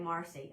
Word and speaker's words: Marcia: My mama pronounced it Marcia, but lots of people pronounce it the other way. So you just say Marcy.